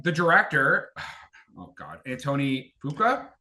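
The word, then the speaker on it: Fuqua: Antony Fuka. Is that how you say his name? Fuka. Oh, I up in the intro. Uh but I think it's Fukua.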